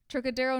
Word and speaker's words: Trocadero: So according to the police records, Todd had gone to the Trocadero, I wanted to say it correctly, Trocadero nightclub on Sunset Boulevard on Saturday night for